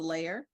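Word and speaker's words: LAIER: Again, it's pronounced the LAIR, stands for the Laboratory for Artificial Intelligence and Equity Research.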